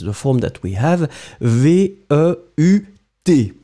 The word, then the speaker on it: veut: form that we have, V-E-U-T, you don't pronounce it, but still it should be there, so elle veut, then